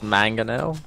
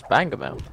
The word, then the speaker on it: Mangonel: If you want it in English, it's Mangonel, but in Spanglish, it's Bangomel. Ah, no, no, then I want to in English, come on.